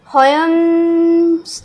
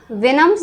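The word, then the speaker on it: Houyhnhnms: Fourth book venom, इसको हम होयम्स नहीं पढ़ेंगे, ठीक है, फिलहाल तो प्रोनाउंस भी नहीं किया जा रहा अभी तो यहाँ पे इसकी प्रोनाउंसिएशन वेनम्स दी हुई है।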